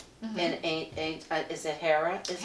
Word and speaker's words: Hera: So stepmothers do predate uh in some tales like the ancient Greek like uh Hera in is it Hera is pronounced Hera.